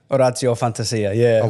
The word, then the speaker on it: Orazio Fantasia: In Italy, if we're in Italy, it would be Orazio Fantasia, which is a little bit, cringy when you say it, but that's, But that's your name.